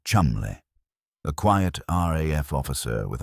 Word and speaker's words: Cholmondeley: Ewen Montagu, a brilliant, meticulous naval intelligence officer, and Charles Cholmondeley, pronounced Chumley, a quiet RAF officer with a mind like a steel trap.